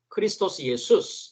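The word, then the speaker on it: Χριστὸς Ἰησοῦς: 그리스도 예수, 이것을 헬라어로는 크리스토스 예수스 이렇게 발음을 합니다.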